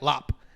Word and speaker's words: larb: I like I like Lop it's spelled it's spelled larb yeah a little bit of it's locked sorry that's just like